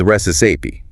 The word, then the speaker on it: recipe: The pronunciation is resi stress on the first syllable.